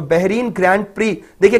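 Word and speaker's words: Prix: तो Bahrain grand pre, देखिए कई स्टूडेंट्स उसको प्रिक्स बोलते हैं, मैं आपको इसका करेक्ट प्रोनाउंसिएशन बता रहा हूं, प्रिक्स नहीं बोलते इसको, प्री बोलते हैं।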